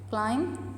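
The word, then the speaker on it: climb: क्लाइम students, English में ये rule है कि जिधर लेटर एम और बी साथ में आए एक वर्ड में तो बी जो है वो साइलेंट हो जाता है. क्लाइम B silent, bridge B silent, is B silent, com B silent, we know, settle B silent, depth B silent and doubt B silent.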